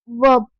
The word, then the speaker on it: verb: एक बात बता दूं, वो वर्ब नहीं होता, वर्ब आर साइलेंट होती है। क्या होती है, आर साइलेंट होती है, उसको वर्ब नहीं वर्ब कहते हैं। क्या बोलते हैं, वर्ब।